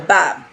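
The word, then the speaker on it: badb: In Irish Gaelic, bad, meaning crow, I hope I pronounced that right for my Gaelic audience. Please tell me if I pronounced that wrong. It's spelled B-A-D-B-H, so bab.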